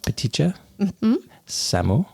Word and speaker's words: Paṭiccasamuppāda: with ptia Samu because take me through the pronunciation ptia Samu yeah ptia Samu yeah good job listeners follow along all together now petia Samu P very well done light-hearted grammar can be